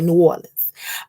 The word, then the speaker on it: New Orleans: new orleans new orleans however they pronounce it y'all know we're from chicago so we say new orleans um if you guys